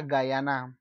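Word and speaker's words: Guyana: di Afri Afrika Oke Bacanya adalah Bu bacaannya adalah gayana presiden pertama dari gayana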